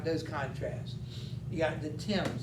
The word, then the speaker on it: Thames: contrasts you got the thames it's spelled t-h-a-n-e-s but pronounced more like it's just t-i-m-s all right the thames river is the river